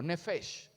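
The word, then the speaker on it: נפש: palabra en el hebreo original nefes repítalo Conmigo nefes nefes quiere decir alma o una persona con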